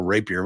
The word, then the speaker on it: Rapier: Bill Rapier. Am I pronouncing your last name correctly? You are. That's correct.